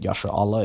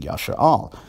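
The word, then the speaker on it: ישראל: Is it pronounced Yashar Allah or is it pronounced Yashar Al? Most proponents of Lashon Kodash would say that Yashar Allah is standard, but you see more and more people saying Yashar Al.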